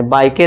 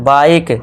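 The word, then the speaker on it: bike: यहां पे बिक नहीं पढ़ना है। बायके नहीं। अब इ का साउंड आपको भूल जाना है। तो इसे क्या पढ़ेंगे? बाइक।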